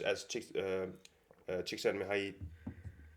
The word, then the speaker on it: Csikszentmihalyi: and then you start to ask yourself, sure, these these experiences of momentary joy or say pleasure, as Csikszentmihalyi. Yeah, good. It was okay. Perfect. Yeah, perfect. Nice pronunciation on point.